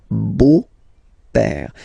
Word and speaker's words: beau-père: Le beau-père. So remember this E-A-U combination of vowels only give you the sound O, beau, okay, le beau-père.